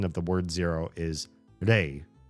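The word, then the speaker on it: 零: In Japanese, the the kanji pronunciation of the word zero is re r e i re.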